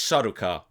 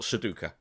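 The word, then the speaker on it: Sardaukar: up on is that it's it's saruka not seduka seduka is like a puzzle that you do in in boxes with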